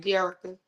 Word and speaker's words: Jerrika: Jerica.